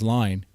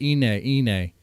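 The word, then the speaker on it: Iine: Like I was the reactor, one of many who kept on mispronouncing Ine as line, right? Even though in the song, what do they say? They don't say line. They don't say line. They say Ine, right?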